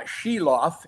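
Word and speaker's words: Silovs: the Smith or uh shiloff is his name that's the pronunciation I've been told so um you're going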